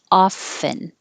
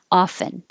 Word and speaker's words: often: chirping chirping and 13 often you can say it without the without the t and that is most common often but it is possible some people say it with a t often and it's not wrong and it's not too casual it's not slang it's just uh different parts of the country different people saying it different ways so it's it's not uh it's not wrong you can say it either way you like often